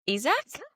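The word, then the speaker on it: Isack: And also, have we been pronouncing Isaac's name wrong this whole time? I've only just realized that this weekend they said is Isak.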